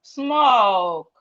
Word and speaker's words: smoke: We have smoke. We have smash, and then smell. SM make the sound and we have it in words like smile, smile, oak. The E here is silent. Smoke.